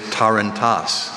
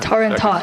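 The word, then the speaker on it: tarantass: Jaden, your word is tarantas.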